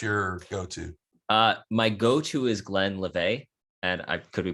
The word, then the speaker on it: Glenlivet: My go-to is Glenlivet, and I could be pronouncing it wrong, but it is what it is. It's Glenlivet.